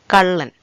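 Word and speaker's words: കള്ളൻ: will be easy for you to learn the pronunciation. Kallan, kallan, kallan, kallan, which means thief.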